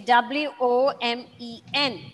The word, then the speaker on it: women: okay okay woman okay w-o-m-e-n okay the pronunciation is women but the spelling of it is w o m e n the inner verbals may change okay fat fat on the